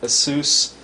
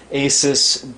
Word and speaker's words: ASUS: bios american megatrends incorporated a sous or asus getting used to the new way they pronounce it asus p8p67 deluxe acpi BIOS